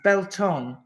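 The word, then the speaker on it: Beltane: Janice Beltaine pronounced Belton.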